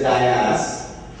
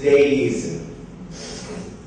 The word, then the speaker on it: days: another pronunciation which is mispronounced mostly as Dayas. There is nothing called Dayas in English, it is Days.